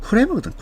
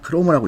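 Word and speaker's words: Kroemer: 자, 이거 정확히 말하면 크레모거든. 크레모인데 이제 읽을 때 그냥 크로모라고 읽겠습니다.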